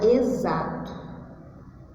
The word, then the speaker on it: exato: Eu tenho uma palavra, eu quero escrever a palavra exato. Exato. Se eu fosse escrever da forma como eu falo, eu escreveria assim, ó.